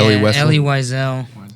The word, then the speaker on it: Elie Wiesel: I don't know how to pronounce this guy's name. Is it Elie Wiesel, the author of Night? Yeah, Elie Wiesel.